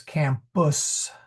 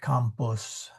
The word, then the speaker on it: campus: So I would say none of those are pronounced like the English because campus not compus.